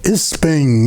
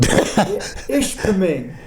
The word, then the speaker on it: Ishpeming: Isping, that's the way you pronounce it. Ishpeming. Ishpeming, Ishpeming.